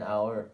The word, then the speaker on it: hour: start with a vowel sound and H an hour is silent for definite articles that has many uses